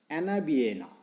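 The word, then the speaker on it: Anabaena: पाहता की microwaves such as ॲनाबिएना, नावं नीट लक्षात ठेवा, काय सांगते मी स्पेलिंग प्रमाणे त्या ठिकाणी आपल्याला उच्चार करायचा आहे.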